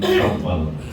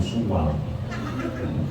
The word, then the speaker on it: Syawal: di bulan Syawal ini, Syawal, jadi bacanya agak tebal, Syawal, bulan peningkatan. Kalau tipis, Syawal urung gampang, apalagi keliru suwal, urungannya manuk berputus. Kalau Syawal meningkat, kalau suwal melorot.